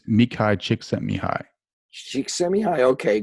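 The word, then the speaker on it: Mihaly Csikszentmihalyi: at university of chicago i'm probably mispronouncing his name a little bit that's cool because nobody can ever it's me kai chick sent me high she sent me high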